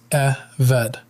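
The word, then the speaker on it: עֶבֶד: The word is eved. Eved, pronounced eved.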